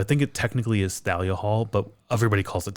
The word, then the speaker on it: Thalia Hall: Is it Talia Hall?